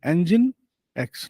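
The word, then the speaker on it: Nginx: logic then you have inex it should be pronounced as Engine train engine car engine engine X not engines engine X then uh then you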